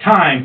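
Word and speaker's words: τιμή: It's spelled like our word time, you know, like you tell time, well, it's almost 7 o'clock. But time, T-I-M-E, but it's pronounced time.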